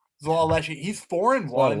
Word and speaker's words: Xhelal Lleshi: And then the other one I'm going to take is Zalal Leshi. Zalal Leshi, it's spelled Xhelal LLESHI. Zalal Leshi, he's 4-1.